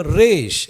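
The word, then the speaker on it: ראש: ரேஷ் ரேஷ் அப்படின்னா தலை ஆனா நடைமுறை பேச்சுல ரேஷ்ன்னு சொல்லக்கூடாது ரோஷ் அப்படின்னு சொல்லி சொல்லணும் ரோஷ்னாதான் என்னது தலை ஆனா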